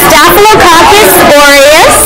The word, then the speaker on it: Staphylococcus aureus: It's Staphylococcus aureus.